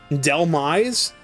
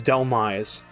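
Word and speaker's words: Dhelmise: Am I Delmise? Like Delve and Demise. Delmise. I'm going to drop chat. I'm going to keep Squawkabilly. All right. So, Delmise. D H E L M I S E. Delmise.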